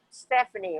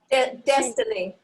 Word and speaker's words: Destiny: And Stephanie, right? Did I say it right? Destiny.